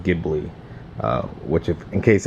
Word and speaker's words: Ghibli: with the Maserati gibli I thought it was pronounced jibli but I've learned it's pronounced gibli uh which if in